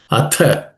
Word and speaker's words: अथ: Atha, in that word atha, the second letter tha is aspirated or mahaprana. So it should be told, said as it has to be pronounced with a bit of an excessive accent.